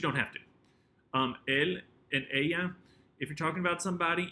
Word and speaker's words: ella: some of these because the double L is going to have the y sound rather than ella, ellos, ellas. And sometimes there's a little J sound that's ellos, ellas.